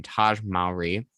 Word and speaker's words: Taj Mowry: And so up next we have Wade Lode, who is played by I always say his name Taj Mowry, I believe is how you say it.